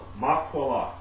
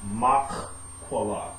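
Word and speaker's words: maqalah: The word is makwala. Makwala. Alright? Actually, it should make be spelled this way. M-A-Q-A-L-A-H. Alright? But to help with the pronunciation, makwala. Or makwala.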